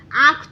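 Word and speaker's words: आँख: आंख तो नहीं बोलते हैं ना, हम क्या बोलते हैं आंख। यह थोड़े से हमारे नाक से आवाज निकलती है, जैसे ही हमारे नाक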